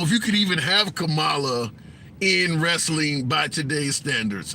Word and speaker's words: Kamala: Okay, people, the vice president name is pronounced like the wrestler's name, Kamala.